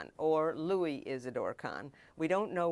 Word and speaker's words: Louis: that I spoke to one said it was lwis and another said it was Louis so I just gave up and chose the one I preferred which is Louie I just call him